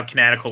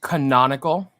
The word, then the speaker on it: canonical: jeff oh yes tim story's shaft is now kinetical with django look i don't think anyone was thinking about tim's story shaft when they made django because it hadn't happened yet it's pronounced canonical yeah that's fine and i agree with chris